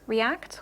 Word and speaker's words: react: instance okay so in a word like r act react okay where you have primary stress on the ACT uh the a vowel